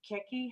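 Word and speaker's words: Chiechi: Now, I understand, Mayor, I might have it wrong, but it's Keki House. You know what? I mispronounce it all the That's time. the proper Italian pronunciation.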